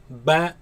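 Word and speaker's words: ب: this letter of course comes from the lips do not suck the lips in ba ba no keep the lips normal alif alif alif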